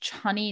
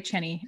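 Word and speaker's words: Chani: follow an astrologer named johnny nicholas channy nicholas it's like annie yeah channy nicholas sorry cheney if i said your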